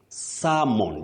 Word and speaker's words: salmon: You can't say salmon. You say salmon. Just like when you say calm, not calm. Okay. Palm not palm salmon not salmon many people are not